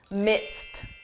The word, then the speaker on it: midst: This is a tricky one, simply because a pronunciation. When you hear this in spoken English I'm in the midst of a big project, it's easy to confuse this with mist and to be in